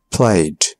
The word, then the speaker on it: played: But a lot of time, the E is not pronounced. Looked. Asked. Played.